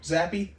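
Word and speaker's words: Zappe: it's the zappy show is that how you say his name zappy it's like zap yeah this week's mashups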